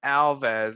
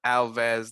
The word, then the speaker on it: Alves: I would suggest searching YouTube for Alves. That's with a V as in Victor, but what's pronounced as a B as in Portuguese. Type in Alves coolest escape ever or